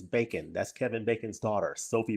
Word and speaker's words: Bacon: at first I thought I thought she was a French actress so I pronounced her name Sophie Bon until I realized no it's bacon that's Kevin Bacon's daughter